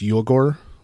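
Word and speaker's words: Uyghur: ethnic minority people and I old mispronounced I think it's you Accor but I probably yeah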